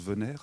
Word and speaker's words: Venayre: moi j en viens mon nom de famille qui se prononce venayre il vient du périgord